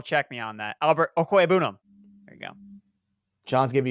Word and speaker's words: Okwuegbunam: for the Philadelphia Eagles, which that's how you pronounce it, John. Double check me on that. Albert Okwuegbunam.